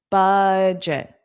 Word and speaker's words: budget: Budget. So you have the sound on the first. So we have budget. Budget. Budget. And notice that g e t is pronounced as jit.